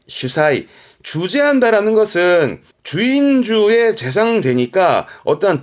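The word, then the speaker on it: 主宰: 발음은 슈사이, 슈사이.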